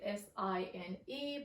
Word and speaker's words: sine: So the main 3 functions are sine. We sometimes write it with S-I-N-E, but usually in math we omit the E, so it will actually become S-I-N, but you will still pronounce it as sine.